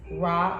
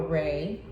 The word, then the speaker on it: Ra: Ra, pronounced as Ra or Re.